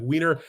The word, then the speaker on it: Wiener: you know Vienna right Vienna in German it's Vienna is is a w instead of a v so it's like wiener and I open this